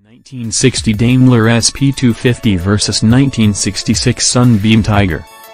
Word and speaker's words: Daimler: may not even know how to pronounce the name damler like Dame medna not diimler like the Mercedes brand parent though it traces back